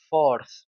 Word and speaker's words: fourth: Es importante tener en cuenta que a partir del cuatro tenemos el sonido de la th. Es el mismo sonido de la Z española, como ya les dije, zapato, cerveza. En este ejemplo es forth.